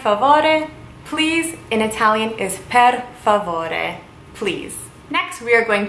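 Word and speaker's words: per favore: help me fed foreboding please in Italian is pad full order please next we are going to do yes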